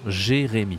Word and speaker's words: Jérémy: Non, Jérémy. D'accord? Préféré. On a le verbe aller. D'accord? Ça s'écrit ER.